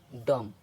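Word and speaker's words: dumb: पढ़ेंगे बम और इसको डीओ एम बी डम अब इसको अब इसके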